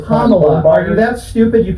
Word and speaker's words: Kamala: Okay, it's Kamala. Are you that stupid you can't pronounce her name right?